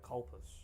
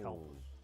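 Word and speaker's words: Calpis: Colpus, right? It's pronounced Calpus.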